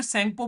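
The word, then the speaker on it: Tsangpo: अंदर में यारलंग जंपो या फिर सपो बोलते हैं टी साइलेंट रहता है कल मैं लेक्चर ले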